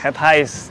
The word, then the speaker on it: Het Huis: Head Highs. Dibacanya Head Highs ya?